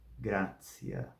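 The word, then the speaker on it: gratia: depois ciência ciência chiên o t e o i eles quando são seguidos de vogal tem um som de TS assim essa palavra se diz grcia gracia gracia e ainda o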